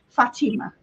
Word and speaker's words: Fatima: So I got to do a reading face to face for Fatima, and she clarified that that's how you say her name, Fatima.